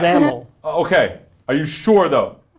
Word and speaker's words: XAML: Is it pronounced XAML, XAML, or XAML? Seth, we've talked about this. Yeah. It's XAML.